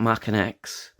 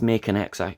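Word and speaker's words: Maken X: Up next we've got Mackin X. A lot of people pronounce it as Makin X. It's Mackin X.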